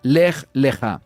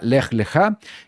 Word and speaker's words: Lej Leja: La parashá de esta semana es la parashá número tres y el nombre es la parashá lej leja. Importante, así es como se pronuncia en la fonética, lej leja.